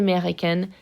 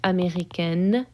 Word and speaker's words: américaine: Elle est américaine, and I'll pronounce that T. Okay, I will pronounce the N here because of my final E.